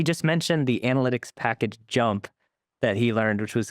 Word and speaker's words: JMP: mentioned the analytics package jump that he learned which was key like what is that and where is it used Ran's probably referring to JMP pronounced jump which is a statistical